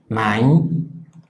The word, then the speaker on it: nein: Luego tenemos el diptongo EI, que suena I, como por ejemplo en la palabra nein, que equivale a decir no.